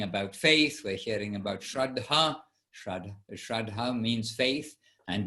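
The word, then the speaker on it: श्रद्धा: who's passed away and shraddha is faith with a long a at the end and a short at the beginning so we hear about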